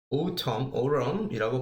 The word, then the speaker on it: autumn: 자, 여러분들 우리가 가을이라는 표현 이제 뭐 일반적으로 fall을 많이 쓰는데 우리가 autumn이라고 발음을 하는 이 autumn도 가을이라는 표현이죠. 특히 맨 끝에 있는 이 n이 이제 발음이 없이 그냥 철자만 갖고 있는 그런 상황이니까 여러분들 스펠링 한번 챙겨주시고요.